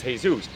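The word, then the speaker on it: Jesús: just like you you the pronunciation of this in the English would be Jesus the pronunciation though in Spanish is Jesus.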